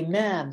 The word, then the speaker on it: ma'am: speak to the queen you say ma'am which rhymes with spam and i thought that